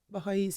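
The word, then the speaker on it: Baháʼís: Baha'is, yeah.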